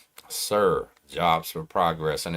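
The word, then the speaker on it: SER: I I told somebody about something called Sir Jobs for Progress. That's spelled S E R. Sir Jobs for Progress.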